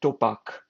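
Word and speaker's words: Tupac: So, they came up with a with a plan called Operation Topac. Uh it's spelled as T U P A K.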